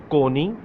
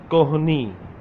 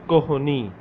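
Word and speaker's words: کہنی: Some people say Koni and some people say Kohni. Okay, it's up to you. Kohni, Kohni, Kohni, Koni. Some people do not pronounce H sound.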